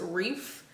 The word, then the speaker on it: wreath: I feel like every time I say wreath, I'm saying it wrong because I'm from the South, and my family definitely says wreath, like with a F on the end, not wreath, TH.